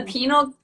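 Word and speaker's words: pineal: gland into our bodies it's called the penile gland well it's it's the penile isn't it isn't that how you pronounce it but i've always said penal because i i'm dumb and i can't say it but you're asking the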